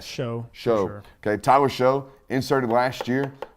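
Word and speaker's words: Shough: that or show shout s-h-o-u-g-h spelled like though Bo with an S show show Okay Tyler show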